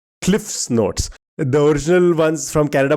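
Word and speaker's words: CliffsNotes: It's not cliffnotes. It's cliff's notes.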